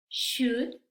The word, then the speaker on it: should: Aquí la L no se pronuncia, ¿sí? Vamos a ver cómo pronunciamos estas palabras. Talk, walk, should, could, have, palm.